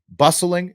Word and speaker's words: bustling: defined as America's formerly bustling bustling it's a silent T I guess industry industrial territory right